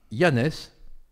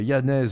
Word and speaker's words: Janez: Alors, il s'appelle Janez. On prononce à la française, on a le droit. Hein.